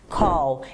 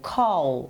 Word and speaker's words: call: Call, ele escreve com A, mas ele tem um sonzinho de O, call, ok?